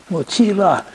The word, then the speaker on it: mochila: So, and it, mochila is M-O-C-H-I-L-L-A, and the L-L isn't pronounced you, it's pronounced la. Mochila, and it's Spanish for backpack.